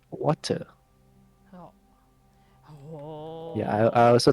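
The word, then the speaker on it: Wachter: Yes, it's not Watcher, it's Watcher. pronounced as Water.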